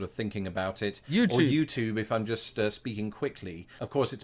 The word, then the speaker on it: YouTube: wait Do America say YouTube YouTube yeah tub e is tube why do we say YouTube That's c h u e tube it's not a tube it's a tube why do we say